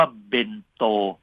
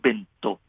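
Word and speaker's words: 弁当: คือ ญี่ปุ่น เอ่อ มี ภาษา ญี่ปุ่น ออก เสียง ว่า เบนโต หรือ เบนโตะ ออก เสียง เน้น ที่ คำ ว่า โต หรือ คำ ว่า โต มัก มาก กว่า คำ ว่า เบ็น คำ ว่า เบ็นโตะ ใน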